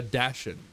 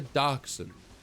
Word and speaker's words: dachshund: Yeah, I always thought that it was a dashend, but I guess it's not. I guess it's not a freaking dashend, and it's a dachshund.